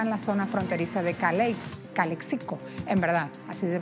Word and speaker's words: Calexico: presidente Trump estará en la zona fronteriza de Calexico en verdad así se pronuncia en California por supuesto del otro lado